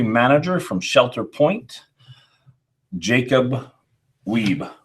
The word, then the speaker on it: Wiebe: And we are here with the distillery manager from Shelter Point, Jacob Wiebe. Wiebe, yes.